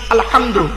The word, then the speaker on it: আলহামদু: আরো দেখেন, আলহামদুলিল্লাহি রাব্বিল আলামিন, আলহামদু, আলহামদু, এই গলার ভেতর থেকে হাইটা উচ্চারণ করবেন।